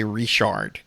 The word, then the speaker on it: Richard: No, we don't say Richard here. We say Rishard.